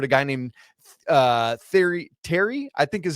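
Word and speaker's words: Thierry: guy named uh the Terry I think is how it's one of the it's like the French word. T H I E R R Y. I think it's Terry is how you pronounce it.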